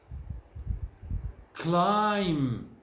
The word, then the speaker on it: climb: problem, trouble, table, problem, climb, comb, thumb. Notice the V is silent. It's not pronounced in this column and the next column.